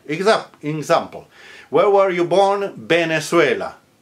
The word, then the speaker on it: Venezuela: Venezuela. Venezuela. Pronounced with a B like boy.